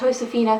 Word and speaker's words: Josefina: everyone, so today we're continuing the American Girl collection videos, and I'm doing my Josefina, or as it's supposed to be pronounced, Josefina collection.